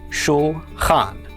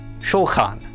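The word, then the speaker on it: שולחן: So our second syllable is khan. Altogether, this is pronounced schulan. Shulhan.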